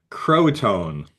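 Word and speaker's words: Croatoan: So okay, I put it in the chat in case I mispronounce it, but it is Croatone.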